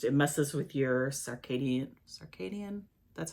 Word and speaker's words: circadian: thing it just it messes with your circadian circadian that's how you say it rhythms it's just